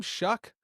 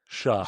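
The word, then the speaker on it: Shough: Shock. Shaq. sha. You add like it's not shuck as in ck, but you add a little you add a little something to the gh.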